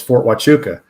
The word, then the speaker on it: Fort Huachuca: our station it was fort huachuca okay it's spelled with an eight it's spelled with an h but you pronounce it with a w sound but it's an indian